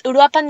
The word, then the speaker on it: Uruapan: It's Uruapan, Michoacán, and you are correct.